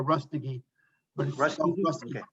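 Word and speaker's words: Rustgi: uh r-u-s-t-g-i yeah although it's pronounced as though there's an extra little syllable in there rust again okay all right well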